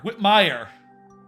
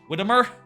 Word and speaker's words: Whitmire: Whitmire is the pronunciation. Everyone screws it up. Gotcha. Andy Whitmire. What did I say? Whittimer?